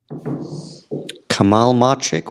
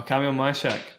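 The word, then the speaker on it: Kamil Majchrzak: Kamal Marchik, what's this? Comment here from Ghibli. Oh, Kamil Mashak.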